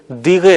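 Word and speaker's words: دقیقه: لفظ استعمال ہوتا ہے۔ یہ لفظ دقیقے تلفظ کرتے ہوئے یا بولتے ہوئے دیغے رہ جاتا ہے، یعنی اگر آپ کسی ایرانی سے گفتگو کریں گے تو بالعموم آپ کو یہ آواز سنائی دے گی، دیغے یعنی دقیقہ۔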